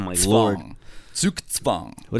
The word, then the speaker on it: zugzwang: Okay, yeah, because it's like a TS sound, like zooks, and then tzvang. Sukitsvang. Like TS, Oh like my tzvang. lord. Zugzwang.